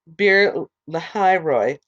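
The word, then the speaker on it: Beer-lahai-roi: After Abraham's death, God blessed Isaac his son, and Isaac lived near Beer Lahairoi. And that's spelled Beer hyphen Lahai hyphen Roi.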